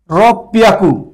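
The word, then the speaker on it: ろっぴゃく: 600-এর ক্ষেত্রে ওটা একটা ব্যতিক্রম রাখছে, উচ্চারণটা হবে রব পিয়াকু, পিয়াকু, রব পিয়াকু, রব পিয়াকু, রব পিয়াকু।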